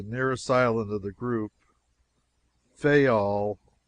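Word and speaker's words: Fayal: Therefore, we steered for the nearest island of the group Fol. People there pronounced it fol. And put the accent on the first syllable.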